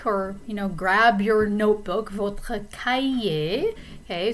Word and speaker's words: cahier: So take or, grab your notebook, votre cahier. Okay, so the H is silent here. Cahier, du papier et un crayon ou un stylo.